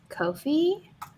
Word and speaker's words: Ko-fi: Nia's Ko-fi. Rhymes with no fee, which is why all creators should be on the platform.